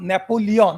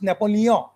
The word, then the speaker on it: Napoleon: word right because in in France the rule is that you should never pronounce the final consonant it should always nasalize it's not napoleon we say napoleon but it's napoleon you have to make